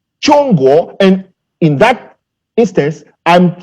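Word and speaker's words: 中国: in the chinese definition of china which is pronounced chongo and in that instance i'm speaking under the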